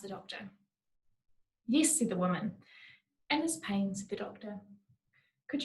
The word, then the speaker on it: Wound Man: und in brackets so if i'm being extra pretentious i pronounce it as woman with a silent wound i think there's something